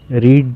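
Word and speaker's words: read: तो रीड का third form भी स्पेलिंग तो सेम रहती है, लेकिन स्पोकन इंग्लिश है तो सिर्फ इसका बोलने का तरीका चेंज होगा।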